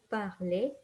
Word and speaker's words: parler: So remember, regarder, dessiner, étudier, manger, parler. We never pronounce the R.